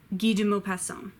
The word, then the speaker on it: Guy de Maupassant: get a mocha so G do more some guy de maupassant your van Julie very Jules Verne tale Fela